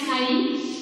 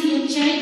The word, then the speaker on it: chi: this is pronounced as chi. It is written as CHI, but it is pronounced as chi, and chi is equal to electric susceptibility.